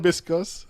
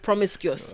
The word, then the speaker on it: promiscuous: Probiscus. How do you say it? Promiscuous. Okay.